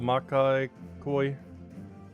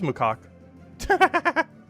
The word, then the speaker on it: macaque: The Makai Koi. No, that's a monkey. Wait, is that how you spell it?